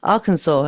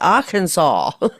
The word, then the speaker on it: Arkansas: idea how rough it can be there in Arkansas. As I say it right, Arkansas.